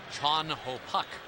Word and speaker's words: Chan Ho: one actually because theoretically it should be chun ho park but uh when you talk to chan ho about it he's very comfortable with the americanization of it and he says if you want to get it completely right it would be chon ho and then we